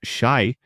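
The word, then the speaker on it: し: The number four pronounced shy sounds identical to the Japanese word for death.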